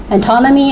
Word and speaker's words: antonymy: So the stress in second syllable, synonymy, antonymy, and hyponymy.